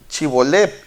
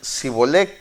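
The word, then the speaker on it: Shibboleth: Entonces les decían, ahora pues di Chibolep, y ellos decían Sibolec, porque no podían pronunciarlo correctamente.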